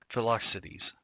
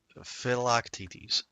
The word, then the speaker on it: Philoctetes: What's his actual name? Philoxides. Philoctetes? How do you say that shit? Philoctetes. Okay, cool.